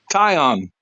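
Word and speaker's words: Taillon: But Tayon, Tom, how do you say that? Tayon, yeah. Tyon. Dave, like tie one on.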